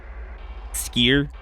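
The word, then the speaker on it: skyr: I'm pretty sure it actually is pronounced skier. Like I'm Well, I'm joking about it and saying it silly, but yes, I think that's actually the proper pronunciation of skier.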